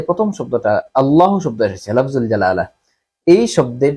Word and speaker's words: আল্লাহ: অর্থাৎ আল্লাহ শব্দটাকে পুর করে তাফিম করে পড়া হচ্ছে উত্তম এবং সুন্দর আল্লাহ শব্দটাকে সুন্দরভাবে উচ্চারণ করা যায় যদি আপনি পুর করেন।